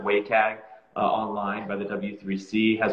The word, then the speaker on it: WCAG: to to the wcag they pronounce it waycag online by the w3c